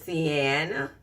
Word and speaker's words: Siena: serious glamorous glam collection and her name is Sienna believe me that's how you pronounce the Sienna and she is a full